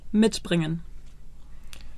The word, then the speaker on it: mitbringen: Kuchen, mitbringen. As the stress is on mit, you know that the verb splits into two, and you therefore say, bringt Kuchen mit.